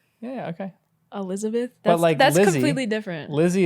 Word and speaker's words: Elizabeth: but no I mean my name is spelled with an S and I'm actually very like it's cool I care that people pronounce it with an S but nobody does and like I'll correct you if you say it with a z cuz it sounds different so say your name Elizabeth